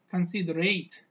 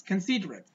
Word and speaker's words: considerate: God were considerate see most people read this this word like consider eight because at the end of this word we can see eight eight so people pronounce this word consider eight consider eight but actually that's not consider it but that's considerate consider it and consider